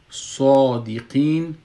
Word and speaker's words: صادقین: مثلا میگیم صادقین، صادقین، وقتی که ما صاد میگم میبینین که ای صاد تلفظش مفخم است.